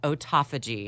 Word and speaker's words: autophagy: So we're going to be talking about autophagy. I'm going to spell it A-U-T-O-P-H-A-G-Y, autophagy. Autophagy. Like auto. Auto.